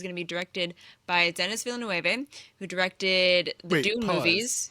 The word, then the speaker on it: Denis Villeneuve: I say this as a reformed Denis Villeneuve because I'm like, yeah, I speak Spanish. This is how you say it. And then Really? You were saying his name wrong the entire time? Yeah, and then I was like, oh, he's French Canadian.